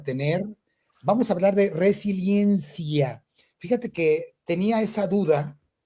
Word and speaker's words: resiliencia: La palabra correcta es resiliencia, con I, resiliencia.